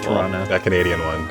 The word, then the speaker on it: Toronto: The way you say it with that silent second T is beautiful. Toronto.